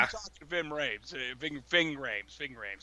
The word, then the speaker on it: Ving Rhames: Ving Rhames, that's how you say his name.